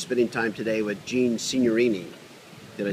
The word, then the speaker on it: Signorini: I have the privilege of spending time today with Eugene Signorini.